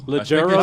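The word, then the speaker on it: Leggero: he was like 10 years old yeah Natasha legero she was my favorite legero that's how you pronounce the T listen it's a weird it's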